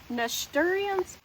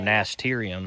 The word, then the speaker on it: nasturtium: I forgot to tell y'all I planted these nast- nasturtians? I don't know how to say it. Oh, nasturtium?